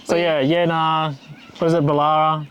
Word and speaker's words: Boolarra: What is it, Boolarra? Boolarra, because it's got an extra O in there.